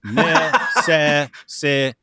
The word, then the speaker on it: necessitate: You're leaving out a syllable. It's necessitate.